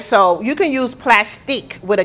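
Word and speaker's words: Plastiq: So you can use plastic with a Q at the end.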